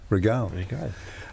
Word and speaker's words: Rigail: Are you good with French pronunciation? Depends. Anne? Oh, that's a tough Rigail. Regale. There she is. Yeah, Regale.